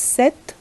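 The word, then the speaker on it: cette: other two that was c e double t e again pronounced as seth here these are this is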